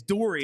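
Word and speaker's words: Doerrie: It's Dory, and it's yeah. spelled like Dory, and I keep Rachel Dory on, and I listened to her podcast before the suspension came down.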